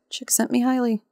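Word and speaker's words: Csikszentmihalyi: him or something and got the mnemonic for how I pronounce it chick sent me highly so yay okay so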